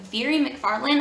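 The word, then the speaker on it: Mhairi McFarlane: never met you by very mcfarland i think is how her name is pronounced but this is a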